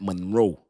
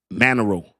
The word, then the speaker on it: Monero: you would do that Monroe. Monroe, was it? Let me make sure I'm saying it right. I don't want to make sure I'm not saying it wrong. Monero.